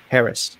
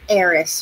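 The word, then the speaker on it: Heiress: Harris, like Harris. No, Eris. You don't pronounce the H.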